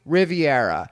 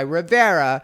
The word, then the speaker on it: Rivera: have become, there are still people that will pronounce my name Riviera. So to avoid this, I usually will start off my conversation with them just being like, yes, this is Rivera.